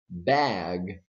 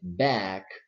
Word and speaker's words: bag: in the step instead of saying bag they say back and that is incorrect so let's repeat the